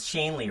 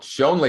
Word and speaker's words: Schoenly: and leverage your business with is it shane lee right it is you know what it's always people mispronounce it right shanley and it's shanely oh shonlee is a nice mispronunciation all right so shane